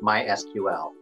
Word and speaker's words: MySQL: language called mysql and in their specification they inform you how to pronounce the name of their software and it is to be pronounced mysql and forward those documents